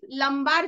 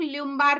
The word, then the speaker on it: lumbar: Okay, then L5 लंबार जो होते हैं, कुछ कुछ लोग ल्यूम्बार भी इसका प्रोनाउंसिएशन करते हैं।